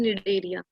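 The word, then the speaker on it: Cnidaria: Like यहाँ पे जो सी है वो साइलेंट है, जैसे टेरिडोफाइट्स में सी साइलेंट था ना, यहाँ पे सी साइलेंट है, तो हम इसको बोलते हैं निडेरिया।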